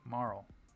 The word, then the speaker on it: Marle: And the winner was that pronunciation, Marl.